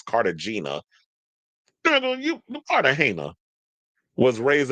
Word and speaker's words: Cartagena: It's Cartagena, but he says Cartagena.